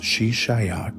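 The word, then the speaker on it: Xi Xia: His first major campaign was launched against the Shishis, pronounced Shishaya Kingdom, ruled by the Tangut people.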